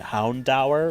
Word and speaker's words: Houndour: here uh is the hondur the doggy the fire doggy um I like that now David last time said he he always pronounced it houndour like hour I've always called it hound or just because I don't